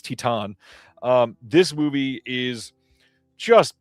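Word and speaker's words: Titane: uh Titan or Titan or Titan or however uh you you're supposed to pronounce this. I believe it's Titan.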